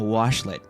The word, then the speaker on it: washlet: I'm saying it correctly now, washlet.